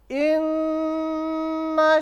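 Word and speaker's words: إنّا: Cara bacanya, karena gunnah itu artinya dengung, jadi di sini kita dengungkan. Dengung yang dimaksud harus ditahan. Boleh 2, boleh 3, boleh 4. Jadi begini ya. Inna gitu.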